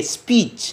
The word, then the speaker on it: speech: Today I want to deliver a speech. Nah, ini speech dengan C. C-nya berakhir dengan C. Jangan speak, tapi speech dengan C. Speech.